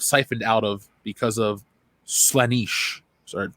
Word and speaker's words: Slaanesh: Also, they must use soul stones so their souls aren't siphoned out of because of Slaanesh. Or Slaanesh. I don't know how you pronounce that word. It's Slaanesh.